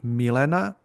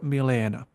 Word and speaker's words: Milena: depending where you're from, you will be called Milena or Milena, Hmm. Yasmina or Yasmina. So you can have both, depending which region in Serbia you are.